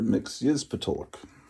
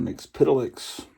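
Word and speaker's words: Mxyzptlk: Mr. Mixyzpatuluk or Mr. Mixpidolix, depending on who you listen to on the pronunciation.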